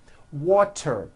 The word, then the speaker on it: water: So if a letter T falls between 2 vowel sounds, which are voiced, so if it falls in the middle of vowels, then the T is pronounced as a D and the whole word is voiced.